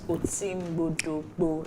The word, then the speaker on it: Oti Mgbodo Mgbo: Okay, so tell us about Oti Mgbodo Mgbo. That's the pronunciation.